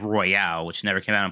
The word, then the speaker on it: Royal: I don't think Turbo Sean would say that, because it's actually pronounced Royal, not Royale.